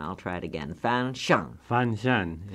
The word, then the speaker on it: Fanshen: Fanshen is the word, yes. Fanshen.